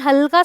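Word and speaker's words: whole: रैप, तो वो sound हल्का सा उसकी वजह से होता है जो W यहाँ पर यूज़ हुआ है। रूल नंबर 3, कुछ वर्ड्स में W साइलेंट होता है बिल्कुल कंप्लीट, जैसे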